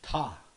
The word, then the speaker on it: ta: How do you say moose? It's ta. Ta. Yeah. Ta. Just like you're saying meat.